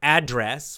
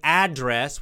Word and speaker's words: address: You know, address, when we say address, we change the stress. Listen to my pronunciation. Two pronunciations. Address, address. Number one, address. Number two, address. Same word, same spelling, but different stress. Address, address. Do you hear the difference? The first one, address, strong on the first, the beginning, address,